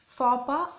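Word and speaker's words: faux pas: Fapa, false step or mistake. இது வந்து எட்ஸும் எஸ்ஸும் சைலண்ட்டாக இருக்குது, அதனால் நம்ம ஃபாப்பான்னு தான் ப்ரொனவுன்ஸ் பண்ணுவோம்.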